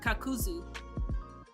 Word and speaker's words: Kakuzu: no Z not K kakazu or kakazu if you watch it in English um in Japanese it's kakuzu um but like I've I've